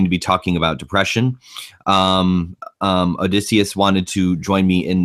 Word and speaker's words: Odysseus: How do you pronounce that? Odysseus. Odysseus.